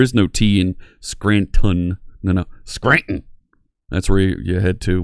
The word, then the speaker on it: Scranton: Scranton Pennsylvania don't say don't pronounce the T in there there is no teen Scranton no no Scranton that's where you head